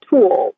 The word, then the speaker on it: tulle: You can take tulle. It's like the bridal veil material. It's spelled Tulle.